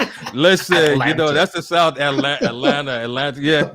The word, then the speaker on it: Atlanta: I'm if in your defense, I'd probably still say Atlanta instead of like making the T silent, isn't it? Atlanta. Listen, Atlanta.